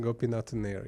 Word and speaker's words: Gopinathannair: one more time sure go pin at an hour yep is that right go peanuts in there yeah very good I was also didn't have the emphasis on the last syllable got it now all